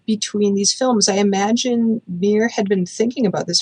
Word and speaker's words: Meir: Meir. M-E-I-R, like Golda Meir.